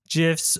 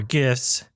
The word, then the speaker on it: GIFs: Raster images include bitmaps, JPEGs, PNGs, GIFs, or GIFs, either pronunciation you prefer.